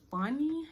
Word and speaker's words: Phany: And it's the, I think you pronounce it Phany. It's spelled P-H-A-N-Y, I think so.